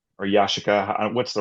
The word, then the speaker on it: Yashica: And for me, the whole reason I got into photography is that my dad had a Yashica C or Yashica.